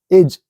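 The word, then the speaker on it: edge: एज, डी के बाद का है जी आया है, एज।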